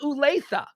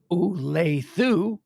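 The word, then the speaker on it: Olathe: right well somebody uh somebody in kansas city media just said that it should be phonetically pronounced oo leithiu but uh i'm gonna go with leslie i'm pretty much going with leslie on everything these days that's just that's just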